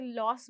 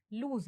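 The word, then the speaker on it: lose: इसे लॉस बोलते हैं बट ये लूज है.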